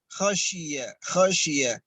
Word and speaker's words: خشي: Dzalika liman khashi pakai shin khashiya.